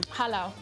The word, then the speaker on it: Jalao: Everybody, pronounce the name of the restaurant again? Jalao.